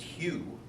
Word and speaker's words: Hu: But Hu, pronounced Hugh, was a term for